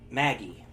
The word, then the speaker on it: Magi: me cuz like um will say Maggie which is Magi but man the Japanese don't have a soft G so Maggie which is